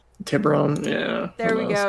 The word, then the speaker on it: Tiburon: It's just Tiburon? Tiburon, yeah. There we go. It sounds like a goddamn Volkswagen car.